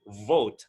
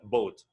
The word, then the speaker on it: vote: cast your vote and it should be pronounced with a v with some air v vote not both the other one is